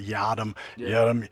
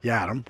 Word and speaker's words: Yiadom: So, you've had a hard enough time getting people to get not yada yada. Yadam, right?